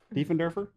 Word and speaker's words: Diefenderfer: Diefenderfer? Is that right? Yeah, that was good. Damn it. Diefenderfer. Just like it's spelled.